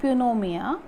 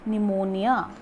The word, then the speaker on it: pneumonia: pneumonia this is not punomia it is pneumonia this is what pneumonia so this is the spelling of pneumonia p n e u m o n i a where p is silent okay so today here